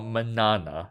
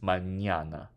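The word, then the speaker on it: mañana: but to approximate it pronouncing the N with a Y after it is fine yes it makes a different sound it's not Manana it's Manana it's not Montana it's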